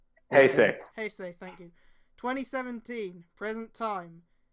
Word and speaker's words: Heisei: Heisei, how is it pronounced? Heisei, thank you.